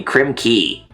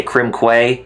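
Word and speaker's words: Krem Quay: to complete world three crim key and i know some people would say crim quay even though it's that's how it spelled but well i heard that it's actually pronounced as key like k-e-y yeah it is i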